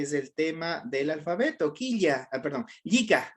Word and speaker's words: llika: Yika. Vamos con Yika o Yika, ya dependería de dónde nos encontramos para pronunciar, ¿ya?